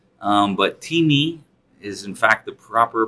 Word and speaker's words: Temi: first Timmy I know some people call it Tammy but Timmy is in fact the proper pronunciation and that's our telepresence robot so we